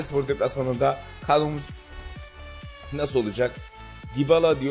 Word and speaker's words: Dybala: Dybala diye okunuyor dediler.